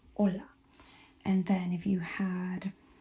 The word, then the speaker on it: hola: And H um is silent. So if we had you would pronounce hola, not hola, right? You would pronounce hola.